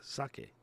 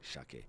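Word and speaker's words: 鮭: sushimi is called it's it's a sake same as the drink but you normally pronounce it with a little H Shake but basically the same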